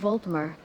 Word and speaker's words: Altmer: And it's Altmer, though I find your mispronunciation rather endearing.